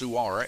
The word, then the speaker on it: Suar: His name's actually pronounced Suar, S-U-A-R, Spanish.